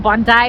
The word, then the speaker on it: Bondi: यहाँ का जो बॉन्डाई लोकल लोग बॉन्डाई बोलते हैं, बट BONDI बूंदी मेरे लिए।